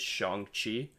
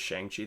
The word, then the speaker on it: Shang-Chi: like just honestly just listing like the proper pronunciation of it. It is Shang-Chi. Okay. I honestly did not know that until the tweet. I had thought it was Shang-Chi the whole time.